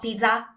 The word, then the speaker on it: pizza: The Z sound in Italian is a TS sound, like the one you find in bats. Ts. Ts. So that's how you pronounce pizza. It's not pizza, it's pizza. And also it's a double Z, so you want to put a little bit more emphasis onto this Z sound.